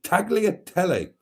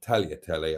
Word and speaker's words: tagliatelle: beef and pork with tagliatelle, or tagliatelle, I suppose. I shouldn't pronounce the G, should I, as it's Italian. So it was homemade meatballs with tagliatelle for supper, plenty of